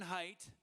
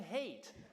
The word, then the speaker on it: Haidt: you Jim uh for for uh not mispronouncing my name it's off it's always uh you know embarrassing like and here's my good friend Jonathan hate and what am I